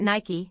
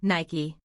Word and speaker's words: Nike: Victory then is it Nike no Nike PN first time is the American pronunciation of the shoe brand second time is the Korean pronunciation for the goddess Nike that's amazing isn't this